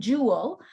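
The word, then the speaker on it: joule: unit for energy and Jewel um PR pronounced just Jewel um and the symbol for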